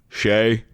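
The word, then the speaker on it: Skjei: That is an S, a K, and a J all right next to each other. How's that pronounced? Shay.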